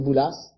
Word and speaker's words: Boulas: On dit Boulas? Boulas, oui. Oui, il y a un S. Oui, avec un, oui. Oui, oui. S prononcé. On se prononce.